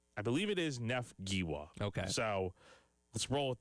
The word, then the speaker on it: Giwa: The G is pronounced like Ga, so not Giwa. Okay. So we'll hear it from Shane tomorrow to have official confirmation, but I believe it is Neff Giwa.